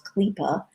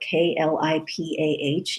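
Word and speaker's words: klipah: concept that kabbalah calls clipa the word is spelled k-l-i-p-a-h in english k-l-i-p-a-h clipa klipa literally means a shell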